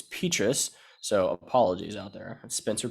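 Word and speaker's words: Petras: was monday night and was told that i mispronounced um petrus's name it's petrus so apologies out there spencer petrus my bad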